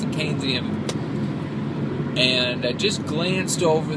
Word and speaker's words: Keynesian: Apparently, you pronounce it Keynesian.